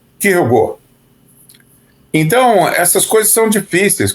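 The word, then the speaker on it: Kierkegaard: No Japão, o pessoal chama de quirukegar garudo e nos Estados Unidos chamam de Kirkegard. No Brasil a gente fala Kirkegard, mas o nome mesmo dele em dinamarquês é Kirugo.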